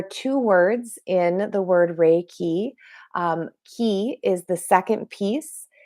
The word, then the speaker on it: Reiki: is spelled r r-e-i-k-i it is pronounced rey key now it is japanese that's where it originated from this formalized approach to energy healing there are two words in the word rey key key is the second